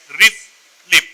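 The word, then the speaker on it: RFLP: name is restriction fragment length polymorphism but the pronunciation of this particular segment is words like riff lip riff Rip r e f l i p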